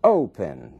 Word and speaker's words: open: letra whispering Open Opening mesmo caso Open ali na primeira sílaba é que está é a força dessa palavra que está a sílaba tônica Opening não dobra então